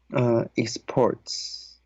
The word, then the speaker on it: exports: Exports. The first syllable is short E.